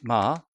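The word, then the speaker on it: 마천루: 우리 도시의 대도시의 그 높은 빌딩들, 그 빌딩들을 비유할 때 우리 마철루라고 얘기합니다. 발음이 마철루가 됩니다.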